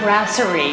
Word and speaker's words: Brasserie: And of course, here in Rock and Bowl is the Brasserie, is how it's pronounced, where Chef Fred Perel creates amazing things